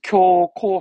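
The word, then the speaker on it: 恐慌: 발음은 그래서 쿄코 하는데요.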